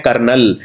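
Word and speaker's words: colonel: बहुत ही कठिन शब्द है, इसे बोलते हैं कर्नल। जैसे जैसे आर्मी के अंदर कर्नल होता है, ये है कर्नल। अब जब हम कर्नल लिखते हैं तो कई लोग सीधा लिख देते हैं KARNAL, कर्नल।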